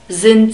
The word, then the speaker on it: sind: Sind, are, sind, we have a soft S at the beginning of German words and a short E sound. The D is spoken like a T when we have it at the end of a word.